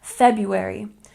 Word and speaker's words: February: next we have February now this one is tricky because although there is an r two RS in this word we don't say the first one we pronounce it like February February not February February good and number